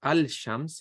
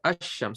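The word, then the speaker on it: الشمس: Okay, so you don't say Al-Shams, you say Ash-Shams. So you're not pronouncing the lam.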